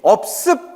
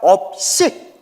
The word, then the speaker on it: 업식: 불래 식 뭐라고요 예 업습 발음 잘해야 돼요 습이 아니라 업식 업의 의식이라는 거예요 내 업을 저장하고 있는